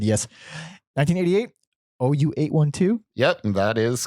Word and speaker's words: OU812: OU812.